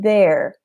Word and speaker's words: the: So there. For the TH sound here, your tongue comes out. So it comes out and you almost bite it a little bit.